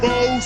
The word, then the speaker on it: faux: These are genuine faux sapphire earrings. 14 karat gold, 86 karat faux sapphire. Faux is a French word. It's got an X in it, but you don't even pronounce the X.